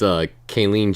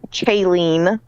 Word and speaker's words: Kaylee: No, not Kayleen. I got it. Why you add an N to my name every time? Oh, I'm sorry. I just have a hard time pronouncing your name sometimes. That's why I called you Kay to begin with. It's Kaylee, Kaylee. Okay, all right, gotcha. not Kayleen or or or.